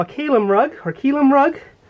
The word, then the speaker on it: kilim: wool it's what they call a rug or keum rug it's spelled k i l IIM and it's a